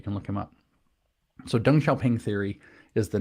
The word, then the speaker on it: Deng Xiaoping: Deng Xiaoping. Okay, so I've spelled it for you. You can look him up. So Deng Xiaoping theory is the name, or Dungism, or as